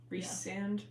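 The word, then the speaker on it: Rhysand: you say it Reese reand I've been reading it as reand reand so reand I've been going off of like Reese like the British pronunciation yeah and then I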